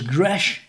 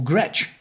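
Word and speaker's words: Gretsch: the bottom there is Gres or Gretch depends how you say it but there it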